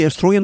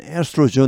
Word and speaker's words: estrogen: 높일 수 있기 때문에 근데이 에스트로겐 호르몬은이 영어 발음은 에스트로젠 있니다 에스트로젠이 에스트로겐 여성 호르몬